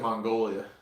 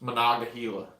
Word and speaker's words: Monongahela: What did I say originally? You said Mongolia. like the country. It's Monongahela. Naga, yeah.